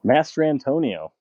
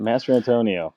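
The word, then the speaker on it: Mastrantonio: How do you say that? Jiren Mastitino. Master Antonio. Master Antonio. That's right. Master Antonio.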